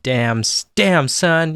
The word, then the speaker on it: Damn Son: So in a nutshell, Kate and I started a record label called Damn Son. You have to say it like that, otherwise it sounds like Dim Sum.